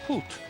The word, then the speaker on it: Put: the Croatian performers they're called put P but pronounced put and they're from the put Kazi choir which